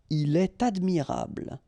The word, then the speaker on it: il est admirable: est, elle est, okay, then definitely you should make the liaison if you've got something after. So like here, for instance, il est admirable, il est admirable, okay,